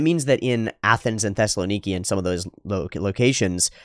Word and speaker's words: Thessaloniki: wrong hahaha you mean Thessaloniki it might be me Thessaloniki but it would just be an emphasis thing I mean I'll literally just Thessaloniki Thessaloniki Thessaloniki Thessaloniki that's the one that's